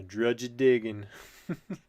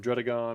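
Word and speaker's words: Druddigon: If any of you are wondering why I said it like that, I am saying it wrong, but it sounds a little cooler than Drudagon, or however you're supposed to say it.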